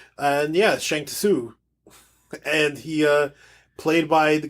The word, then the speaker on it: Shang Tsung: Yeah, that's how his name's pronounced. And yeah, Shang Tsung.